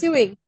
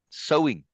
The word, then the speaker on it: sewing: does a seamstress do don't look at the word seing seing no sewing it's pronounced sewing sewing yes this is like sewing seeds it's pronounced the same way yeah okay a seamstress